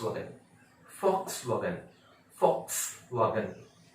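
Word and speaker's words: Volks: सारे लोग बोलते हैं बॉक्स वाले, ये लिखते बॉक्स है लेकिन पढ़ते हैं fox wagon, fox wagon, fox wagon.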